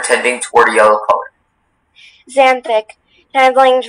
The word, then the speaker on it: xanthic: Xanthic. Does it have the Latin adjective ending ic meaning relating to? You're on the right track. Xanthic.